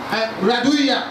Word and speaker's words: RARDUJA: And we pronounce it like we say hallelujah. You don't say hallelujah, we say hallelujah. Hallelujah ends in JA. So we pronounce it internationally, like the Germans, we call it RARDUJA. So the J is pronounced as Y in the place where I live.